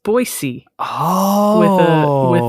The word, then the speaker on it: Boise: way is it pronounced baz no it is pronounced boisey oh with a with an unvoiced S oh interesting that I